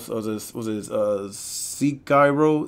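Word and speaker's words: Sekiro: so this was a seek Cairo is how you pronounce see Cairo see Cairo I don't know KYNA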